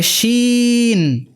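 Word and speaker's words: شين: দেখতে পাচ্ছি ফুলের মালা গলায় দিল সা শি সু, শিন কিন্তু ফুলের মালা গলায় দিয়েছে। ইংরেজিতে যে শি আছে, শি মানে সে একজন মহিলা, সেই শব্দটির SH এর যে উচ্চারণ সেটির মতো উচ্চারণ হলো শিন, সা শি সু।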